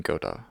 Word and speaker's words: Godot: another episode this time we're gonna be using Goethe good not good Oh one of the two I've heard it pronounced either way both ways are probably correct however we'll be doing Godot c-sharp they've recently implement